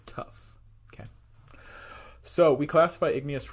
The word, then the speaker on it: tuff: And it's not spelled like you would imagine. It is spelled T-U-F-F. That's tough.